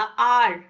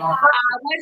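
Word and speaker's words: hour: आर ठीक है? आवर नहीं होता है। ओके ना हावर होता है ना आवर होता है।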